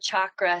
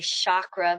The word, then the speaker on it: chakra: familiar with this word chakra sometimes people say chakra very soft ch but it's typically pronounced chakra like chocolate because everything's better with